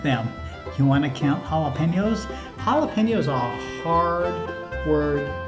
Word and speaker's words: jalapeño: you want to count jalapenos jalapenos are a hard word to say it's even hard to spell it's crazy jalapeno starts with a j but it's an h sound in spanish and these are a